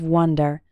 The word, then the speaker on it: wonder: that's the mental activity is pronounced like the number one repeat after me to